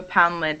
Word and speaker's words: Poundland: But when it's at the end of a place like this, it's pronounced more like lend, poundland, Newfoundland.